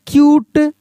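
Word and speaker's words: cute: जैसे क्यूट सी यू टी क्यूट म्यूट एम यू टी ई म्यूट duet D यू टी E duet ये सभी देख रहे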